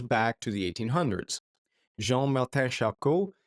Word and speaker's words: Charcot: Jean-Martin Charcot, he was French, that's why I pronounced it like that.